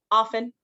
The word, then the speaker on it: often: one's library library often so this one has a t in it but you don't really pronounce the T um so it's silent often subtle uh this one